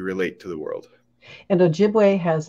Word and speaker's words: Ojibwe: In fact, Chippewa, it's really a mispronunciation of Ojibwe. It's trying to say Ojibwe in English.